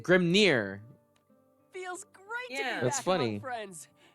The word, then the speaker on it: Grimnir: Yeah, they pronounce it Grimnir.